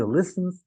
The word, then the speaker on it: listens: En el caso de listen se escribe listen T, pero esa T es hace las veces de la H en español es muda.